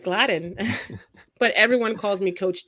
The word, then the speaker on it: Gladine: And yes, thank you for pronouncing my name right, Gladine.